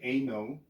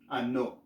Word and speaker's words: ano: Okay, so we don't pronounce this as A, so you won't say ano, and the O is shorter, so it's not going to be ano, it's ano.